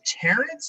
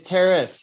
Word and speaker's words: Terrace: gentlemen is his name terence or is it terrace it's terrace yes i just mispronounced it yeah like romeo pronouncing it from monstro yeah romeo and julia go for a stroll on the terrace on a terrace yes